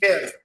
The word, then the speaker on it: Viv: You pronounce it Viv, right? Viv Marketing? Viv. Yep. Yeah.